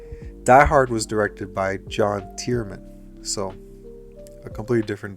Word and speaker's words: John: While Kiss Kiss Bang Bang and Iron Man 3 were directed by the same guy, Shane Black, Die Hard was directed by John Tierman.